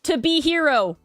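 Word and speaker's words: To Be Hero X: We're not supposed to pronounce the X, Mars. So it's to be hero.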